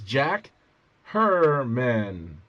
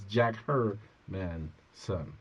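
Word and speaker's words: Jack Hermansson: You got David Branch versus Jack Hermanson.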